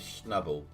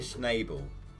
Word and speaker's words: Schnabel: like doing things like pronouncing uh parker's is schnubble and you're like taking a mick like pokemon style sort of thing it wasn't noble he was saying it was snable parker schnabel i went back and